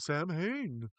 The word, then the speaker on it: Samhain: And here's the whole thing where he keeps saying Sam Hain, but it's supposed to be pronounced Samhain.